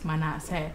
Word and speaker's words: Manessah: The pronunciation is Manessah.